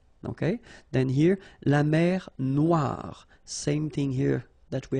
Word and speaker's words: noir: Then here, la mer Noire. Same thing here that we had previously. Final not pronounced, okay? And then OI, remember, wa, noir, noir.